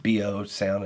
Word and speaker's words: BioSana: I know I keep saying BioSana, but it just BioSana, it doesn't sound right to me, but that's the proper way to say it apparently.